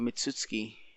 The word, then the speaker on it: Mitsuki: at least Naruto uh he would remember about mitsuki I'm pretty sure that's how you pronounce his name and how he tried to